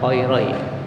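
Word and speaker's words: خيري: Bacanya khairai, asalnya khairaini. Karena dia mudhof maka nunnya dibuang.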